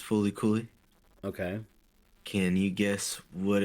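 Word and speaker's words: FLCL: at number 10 uh L LCL it's pronounced fully Coy okay can you guess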